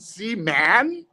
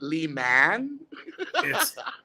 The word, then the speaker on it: Lehman: it i was like is it c man he goes ari is it lee man lehman rhymes with a demon so anyway justin is